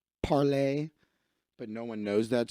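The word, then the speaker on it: Parler: got hacked you know this was actually supposed to be pronounced parlay but no one knows that so everybody calls it parlor looks like leftists fell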